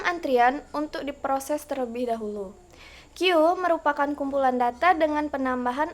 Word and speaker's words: queue: secara harfiah atau eh yang lebih enak tuh disebutnya KW ya tapi sebenarnya KW itu dibacanya q dapat diartikan sebagai antrian